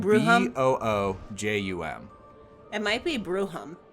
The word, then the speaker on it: Boojum: Boojum with like an audible J, or is it like how Bruja, where the J is an H? I don't know. It's spelled Bruhum?